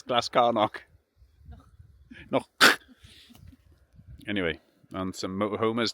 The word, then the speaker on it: Glascarnoch: It's Glascarnoch.